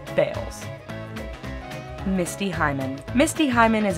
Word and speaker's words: Balls: since his death balls' descendants have changed the pronunciation of their last name to the homophone bals Misty Hyman Misty Hyman